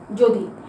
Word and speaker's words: যদি: অন্তস্থ জ দয়ে রস্বীকার যদি, কিন্তু আমরা মুখে বলি কি? যদি, অর্থাৎ বর্গীয় জোর উচ্চারণ আর অন্তস্থ জয়ের উচ্চারণ আমরা একসাথে করে ফেলি।